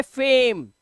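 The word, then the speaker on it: fame: अब इसे आप खुद ही पढ़ लोगे, इसे पढ़ लोगे फेम। ऐसे ही सा, एम, सेम। और लास्ट वाला वाउल जो है, जो दूसरा वाउल है, वो साइलेंट है।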